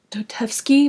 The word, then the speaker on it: Dostoevsky: I know I like butchered his name. I know it's Dostoevsky, but I don't know how to say his first name.